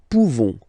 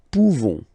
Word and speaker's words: pouvons: Okay, nous pouvons. Nous pouvons. Okay, you don't pronounce the final S. Nous pouvons.